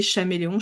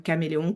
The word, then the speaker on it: caméléon: Est-ce que on disait Chaméléon ? Je pense pas. Je pense qu'on disait quand même Caméléon comme le chaos. Ça s'écrit. Je pense que c'était aussi prononcé caméléon, j'imagine, sans les accents.